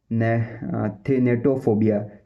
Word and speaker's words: thanatophobia: अब इसकी जो प्रोनाउंसिएशन है वो है थेनेटोफोबिया।